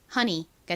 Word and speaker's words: honey: 이중모음 EY는 E 혹은 A 소리가 나는데 주로 단어에서 E 소리가 나는 경우가 많다고 말씀드렸죠. 이 단어에서도 E 소리가 나서 이 단어의 발음은 honey가 됩니다.